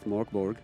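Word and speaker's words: Mörk Borg: You have to say it like this, Morkborg.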